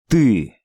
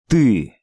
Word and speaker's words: Ты: Ты. Ты.